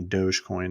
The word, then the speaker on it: Dogecoin: right I'm checking out Dodge Coin Dogecoin all the internet all the internet people will tell me Dogecoin is the is the way to pronounce it Dogecoin 28 cents no